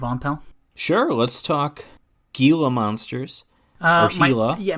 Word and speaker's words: Gila: pal sure let's talk gila monsters yeah my friend is pronounced Gila Gila monster it just sounds pretentious I'll continue to say Gila it's just funny enough